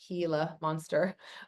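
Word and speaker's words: Gila monster: So, as far as the the the hila, it's actually pronounced hila monster.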